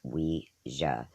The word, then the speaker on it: Ouija: The term Ouija, pronounced Ouija, is derived from the words oui, the French word for yes, and ja, the German word for yes.